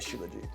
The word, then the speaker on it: Shilajit: Right, but if we had an Ayurvedic practitioner here, like a friend of mine, she would say, no, it's definitely Shilajit.